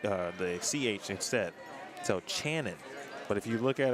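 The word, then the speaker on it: Canan: I was talking about Mr Dempsey it's actually pronounced Shannon like ch or Shannon except for the uh the CH instead so Channon but if you look at it obviously on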